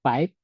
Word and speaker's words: PYWP: So PYWP, you can pronounce it as PIPE.